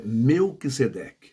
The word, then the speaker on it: Melquisedeque: Perdão, falei errado a pronúncia, mas é Melquisedeque, tá bom?